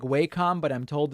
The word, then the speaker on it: Wacom: And I have this Wacom tablet. I know it looks like Wacom, but I'm told it's pronounced Wacom.